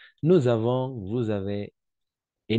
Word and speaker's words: nous avons: J'ai, tu as, il a, elle a, on a, nous avons, vous avez. Et n'oubliez pas faire la liaison ici, d'accord? La liaison, prononcée comme un Z.